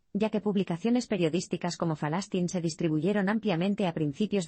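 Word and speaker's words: فلسطين: tradicional de la región los Editores optaron por la pronunciación local en árabe palestino de falastin el periódico se convirtió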